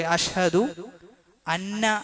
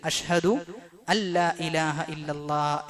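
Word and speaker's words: أشهد أن لا إله إلا الله: ചില ആളുകൾ ബാങ്ക് വിളിക്കുന്ന സന്ദർഭത്തിലൊക്കെ അഷ്ഹദു അന്ന എന്ന് പറയാറുണ്ട്. അത് ശരിയല്ല. അഷ്ഹദു അല്ലാ ഇലാഹ ഇല്ലല്ലാഹ് എന്നാണ് പറയേണ്ടത്. അഷ്ഹദു അല്ലാ ഇലാഹ ഇല്ലല്ലാഹ്. അവിടെ നൂന് എഴുതുമെങ്കിലും ഉച്ചാരണത്തിൽ അത് വരികയില്ല എന്നാണ്.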